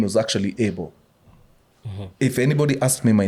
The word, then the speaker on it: Abel: it's Abel that's how you want me to pronounce it Abel and I it's stuck with me ever